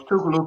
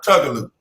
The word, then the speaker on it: Tougaloo: i got back was tougaloo college and like i do like the way you pronounce my college because some folks call it tug-o-loop thank you uh wrote